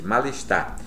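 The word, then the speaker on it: mal-estar: malestar ou malestar acredite malestar naturalmente com if mas a pronúncia como se fosse uma única palavra maleducado portanto pessoa maleducada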